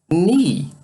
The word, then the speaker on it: knee: Mas olha, observe, esse K não é pronunciado. Ele, ó, é mudo. Na verdade, toda vez que tivermos um K e logo seguido de um N, essa palavra, esse K não é ouvido. Como se não existisse.